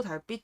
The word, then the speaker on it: 달빛: 동도 달빛 축제공원. 자, 여기를 한번 잘 보시겠습니다. 여기 보면은 달빛이라는 단어가 있죠. 근데 이 단어가요, 어떻게 읽히나요? 어떻게 읽히죠? 달, 달빛이라고 읽혀요. 아니, 정확히 말하면 뭐 달빛인데 쌍비읍.